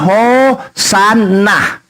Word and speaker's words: Hosanna: Hosana, ini pelafalannya Hosanna. Oke, dalam bahasa Hebrew dia bilang.